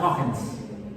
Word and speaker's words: Huygens: Bajos, el profesor Louis, dice que en holandés se pronuncia Huygens. Huygens, en holandés, en flandés, Huygens.